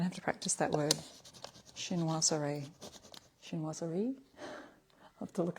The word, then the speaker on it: chinoiserie: Chinoiserie is the pronunciation.